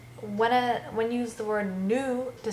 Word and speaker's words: nous: you use the word nous to say we, you have to remember that in front of a vowel there's a z sound, whereas you don't have